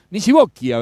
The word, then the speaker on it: Nisibocchia: Nisibocchia vendría a ser la pronunciación correcta, en italiano.